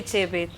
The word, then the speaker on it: Chebet: If you want to say it properly, say Chebet. Pati? Chebet. Chebet. Chebet. Chebet. Not She. Chebet.